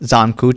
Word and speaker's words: Zankou: On record, Zankou, sir. There's a lot of really hard things to pronounce in here, so be patient.